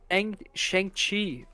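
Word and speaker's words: Shang-Chi: I think that's pronounced shangi I think that's the pronunciation actually shangi I need to watch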